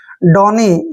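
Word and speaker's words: donee: clear next word देखिए डी ओ N double E देखि डी का उच्चारण ड कर रहे हैं ओ को ओ की मात्रा पढ़ते हैं और एन को हमने न पढ़ना है डबल ई को बड़ी की मात्रा पढ़ते हैं डोनी डोनी मींस होता है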